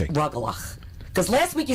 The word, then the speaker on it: rugelach: cookies, maroons, and the rugala. No, let me say it. It's Okay. rugelach. Because last week you sound like the Cookie Monster. How am I saying it wrong? Rugala, rugala. It's rugelach.